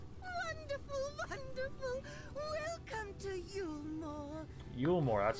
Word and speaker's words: Yulmore: Yulmore, that's how you say it.